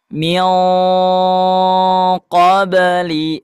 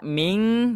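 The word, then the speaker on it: مِن قَبْلِ: Min qobli tidak dibaca ming tapi mi. Si lidah dipangkat diangkat pangkal lidah diangkat ke atas ya.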